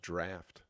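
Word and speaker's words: draught: A a draw a draw. I believe that's pronounced draft.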